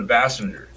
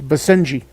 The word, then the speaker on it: Basenji: Is it a Basenji or is it a Bassinger? It's Basenji. Basenji. A Basenji.